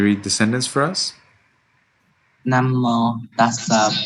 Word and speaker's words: Namo: The vowel at the end of Namo and then Bhagavato and Arahato is actually long, and it needs to be clear from your pronunciation. Namo tassa Bhagavato Arahato Samma Sambuddhassa.